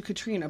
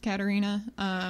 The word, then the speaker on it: Katarina: Well, I almost think that I've always called you Katrina, but I know your name is not spelled. Your name is spelled Katarina. Spelled Katarina. Actually, I believe supposed to be pronounced Katarina.